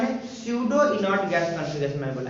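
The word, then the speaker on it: pseudo: स्यूडो ऐसे लिखते हो बच्चों, PSE है ना, UDO, स्यूडो, P साइलेंट होता है, स्यूडो, ठीक है।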